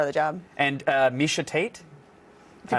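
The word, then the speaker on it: Miesha Tate: and it's part of the job and uh misha tate if you pronounced it wrong i would have loved that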